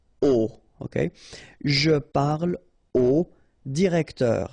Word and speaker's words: au: You write it AU, you pronounce it o, okay?